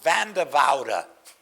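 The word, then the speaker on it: Van der Woude: lip pits and it's pronounced vanada.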